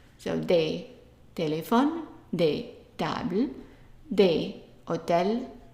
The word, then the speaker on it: des: Notice that I underlined the E and the S, meaning that they are not pronounced. So des, téléphone, des, table, des, hôtel, des, olives.